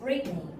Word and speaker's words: Brittany: Brittany. Brittany. Yeah, because of Britain. So this name is taken from the country named Britain. So Brittany. So Britney Spears, like that.